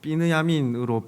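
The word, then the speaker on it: בנימין: 계열의 족보를 기록하고 있습니다 먼저 베냐민은 히브리어로 피느야미인으로 발음하며 야곱의 막내아들로서 라헬이 낳은 아들이죠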